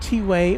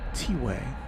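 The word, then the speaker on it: T'way: I was I was not sure at all if it was pronounced tway or twe cuz it's spelled t apostrophe w a y but I was corrected that it is tiway.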